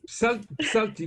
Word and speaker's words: Psalti: Alors, Pslati, il faut cracher un peu. Psalti, vous pensez juste le mot psalmodier. Ça vient de là, psalmodier, psalti.